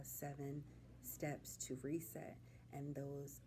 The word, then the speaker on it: Sevhn: seven steps to reset seven steps but it's spelled like my name and it's s e v h n oh h n I